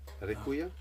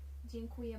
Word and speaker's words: Dziękuję: Dziękuję. Dziękuję. Rekuya? Dziękuję. Dziękuję. That's Dzień- true, Oh fuck. Dziękuję. Dziękuję. yeah. Dziękuję. It's beautiful. If you want to say thank you very much, it's dziękuję bardzo.